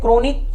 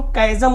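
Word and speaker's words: chasm: क्रोनिक नहीं जी। क्रोनिक नहीं होती है। क्रोनिक स्केल नहीं होती। क्वायर भी नहीं होता है। इसको हम कैजम कहते हैं। क्या कहते हैं? जी कैजम। इसका उच्चारण भी जान लीजिए।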